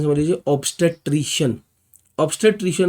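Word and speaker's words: obstetrician: Pronunciation समझ लीजिए, ऑब्स्टेट्रिशियन।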